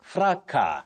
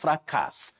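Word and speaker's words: fracas: say chaos chaos then you also say fracka fraka not frakas that s is not pronounced in that word fra chaos and Cal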